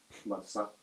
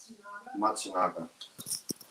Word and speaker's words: Matsunaga: Masanga. Not Masanga. I'm saying it wrong. I just want to fuck up his name. Mitsuhiro Matsunaga.